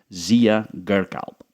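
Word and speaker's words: Ziya Gökalp: ideologue of Turkish nationalism, Zia Galp. There's a silent R in there. I'm not even sure what I said last time, but it's a tough one.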